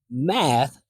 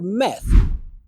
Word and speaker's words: math: of her math again this one happens when students don't create enough space for the a is in Bat vowel so it sounds like they're using the e as Ed vow so instead of hearing math I hear meth so if you ask